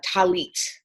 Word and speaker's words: Tallit: So, there is something called a Tallit or, that's the Hebrew pronunciation Tallis is Yiddish, it's a prayer shawl- actually have mine if you'd like to see it.